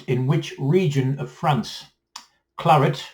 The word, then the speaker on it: claret: Claret is a dry red wine produced in which region of France? Claret, or the Americans say claret, is a dry red wine produced in which region of France?